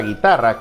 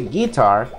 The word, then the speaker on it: guitar: por cierto la palabra guitarra que es guitar tiene una entonación particular no vaya a decir quitar porque si usted dice guitart suena algo raro la pronunciación correcta es guitar de lo contrario sería